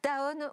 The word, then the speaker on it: Danone: europe de l'ouest chez danone ou daon si on prononce en français nous et lors de